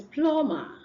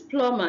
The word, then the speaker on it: plumber: Then the next one is plumber. This is plumber and not plumber. Plumber. The B is silent. In a word like number, the B is not silent.